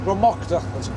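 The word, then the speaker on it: Drumochter: Dromocta, that's how it's pronounced.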